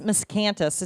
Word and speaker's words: Miscanthus: So this miscanthus, did I say it right?